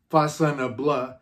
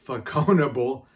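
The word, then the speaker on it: Façonnable: Whether you pronounce it Fashionable or Faconable, it really doesn't matter.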